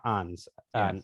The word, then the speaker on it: Ons: It's a Ons, not Ons.